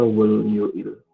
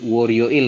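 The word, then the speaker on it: 월요일: Harusnya dibacanya jadi Waryoil gitu ya. Iya, tanya itu. Oke, betul. Harusnya di aturan baca itu dibacanya gabung di sini. Jadi dia nanti bakalan naik jadi Waryoil.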